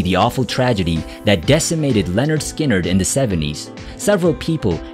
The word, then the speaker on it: Lynyrd Skynyrd: number 10 things go on Leonard Skynyrd from pronounced Leonard Skynyrd 1973 escalding Blues braised deep cut and an